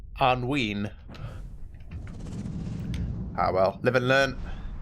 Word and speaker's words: Anduin: Like, I would have said Anduin, not Anween.